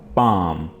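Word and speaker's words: palm: पाम, यहाँ पे आपने एल को साइलेंट रखना है और ये वर्ड आपने पढ़ना है पाम।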